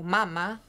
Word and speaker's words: mama: Donc, par exemple, il y a le mot mama avec l'accent sur la première syllabe qui veut dire sein, et le mot mama avec l'accent sur la deuxième syllabe qui veut dire maman.